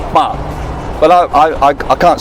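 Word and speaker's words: 白: In Cantonese, it's ba, but I can't spell that, so I'm gonna write it in 普通话.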